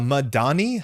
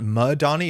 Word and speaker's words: Madani: Uh Madani has a bit more of an accent on this. It's not Madani. It's Madani which is subtle but I everybody I think will understand you here.